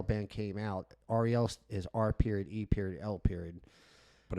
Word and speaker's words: R.E.L.: is R.E.L. But if you read her name, it looks like Ariel, but it's pronounced R.E.L.